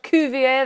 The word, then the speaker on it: Cuvier: I'm going to pretend it's French. I don't know. Is it French? Cuvier? That sounds like what it would be pronounced as.